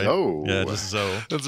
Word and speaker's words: Zoe: And that's my understanding how you spell or you pronounce that. It's Zoe, right? Zoe.